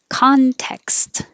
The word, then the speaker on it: context: you have a tiny your tongue has to go to the k position you don't have to think about context just go from the k to the s and it will release a little bit of air context you need that little hesitation to make the k position if not it'll sound like contest without the k so that changes the